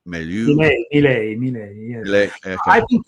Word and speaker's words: Milei: You pronounce it Milei? Milei, yes.